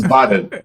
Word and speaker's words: Vaadin: Yeah, because it's called the double, like Double A. VAA, and I'm like Uh-huh. Vaadin.